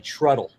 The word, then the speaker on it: Trudel: But how did you pronounce John's name? Trudel. Oh, you got that one wrong. Trudel. It's actually Truddle.